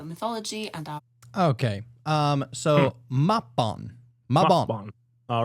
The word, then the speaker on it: Mabon: I think we already said it like a few times wrong. Mabon, Mabon. No, it's Mabon. Okay. Mabon.